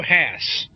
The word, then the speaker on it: Haas: Haas. Who? That's H-A-A-S is Haas, isn't it? How do you say Hayes? Haas.